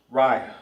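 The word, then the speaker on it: רע: Ry R I Ry. short, short and to the point. Bad in Hebrew is ry cuz you can't say rupt I because there's no a right there.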